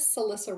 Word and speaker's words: Celissa: My name is Celissa. My name is easy to remember and it rhymes with Melissa.